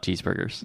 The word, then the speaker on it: cheeseburger: So the U in burger, imagine that's not a U, it's like an like a mother, father, cheeseburger.